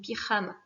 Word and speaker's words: pijama: Et surtout pas de son jeu à la prononciation, je vous rappelle, c'est una jota, le J se dit r, donc pyjama.